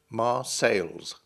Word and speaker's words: Marseille: arm missiles without cease 19th century English speakers would have spelled and pronounced the town's name with an S on the end Marseilles if the S ever was there the French dropped it a long time ago Marseillaise describes someone